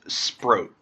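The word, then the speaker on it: Sproat: It's pronounced Sprro. Like throat.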